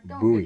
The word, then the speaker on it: Bowie: And they said, by the way, Crosno, it's Bowie High, not Bowie High.